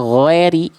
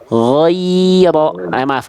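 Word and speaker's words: غير: Tadi Bunda bacanya ghairi, harusnya ghairo. Ghairo. Harusnya ghairo.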